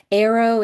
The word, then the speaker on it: aro: Arrow is sort of the shorthand for aromantic. You pronounce it like the thing you shoot out of a bow.